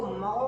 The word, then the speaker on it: mho: Unit होता है बच्चों जिसको महो कहते हैं, MHO। देख लीजिए स्पेलिंग क्या है, ये महो, ओम का उल्टा है बच्चों, महो।